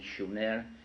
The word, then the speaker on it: Sumer: in a country, in a land called Sumer, in the correct spelling and pronunciation, Shumer, which meant land of the guardians, in southern Mesopotamia, which is today's Iraq.